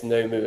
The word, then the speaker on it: Nomu: So in America, you pronounce Nobu, Nobu. Yeah. Okay. So I guess then, it's Nomu as well in America. Nomu. Yeah. It would not be Nam.